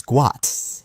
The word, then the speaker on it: Gout: it Bona insists that the correct pronunciation of his son's name is guat and he wants the world to recognize it as such for me I don't